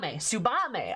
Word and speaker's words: Tsubame: tongue one might call a shinobi right tsubame tsubame okay i was close i had two syllables right doma the imperial province the same